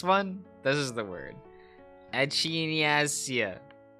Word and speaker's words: Echinacea: Echinacea. That's how it's pronounced.